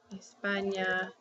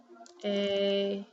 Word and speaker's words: España: Enye really sounds like N-Y. So when I have a word like this, año, I pronounce it like an, yo. Okay? Or if I have España, it's España.